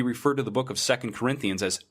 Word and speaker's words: 2 Corinthians: Christian would ever make because of the pronunciation of second Corinthians like every other two parts set of books in the Bible is always second and not to I live my life